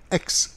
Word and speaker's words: Aix: anbefahl und mit derselben den Hohen Gerichtshof von Aix vertraute. Also das ist, heute kennen wir das als Aix-la-Provence, A-I-X ausgesprochen.